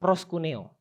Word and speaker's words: proskuneo: Proskuneo, ya. Proskuneo, ya. Pelafalannya begitu.